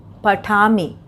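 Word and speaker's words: पठामि: आमी उच्चारण अंत में इसका आ रहा है, उच्चारण पर ध्यान देना है। पठामी, लिखामी, और धाव से धावामी। केवल अंतिम उच्चारण एक जैसा रहेगा, शुरू का शब्द बदल जाएगा। यहाँ पे मूल धातु है और उसमें आमी उच्चारण आ रहा है।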